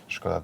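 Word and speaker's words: Škoda: Skoda, the original Czech pronunciation. Sometimes people think, hey, why are you pronouncing it Skoda? It's wrong. No, it's right.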